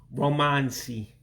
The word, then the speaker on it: romansị: And the only special character you have is the I with the dot underneath, so it gives you a different pronunciation. Almost like saying ink, ink, that high I sound.